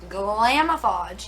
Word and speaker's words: Glamoflauge: to cover tattoos so this is the glamoflauge glamofodge yes i said it right um heavy duty